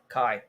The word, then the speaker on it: Cai: How would you pronounce CAI? Kai.